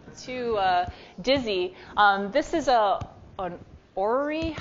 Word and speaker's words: orrery: This is an orrery. I looked up how to say this word, Jessica. What was it? Orrery. Someone can correct me. too many R's, not enough everything else.